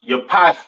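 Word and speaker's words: יפת: call it right um pronounce Yap in Hebrew these are your so-called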